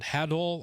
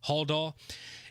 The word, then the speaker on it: Haldol: plan to give Allen that I believe it's pronounced, is it Hadol, I believe is what the medication was. Haldol.